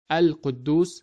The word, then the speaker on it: القدوس: That is why we read it as Al-Quddus with clearly pronouncing the letter lam of al.